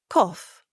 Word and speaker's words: cough: Yes, but cough has a silent U and a GH with the sound of f.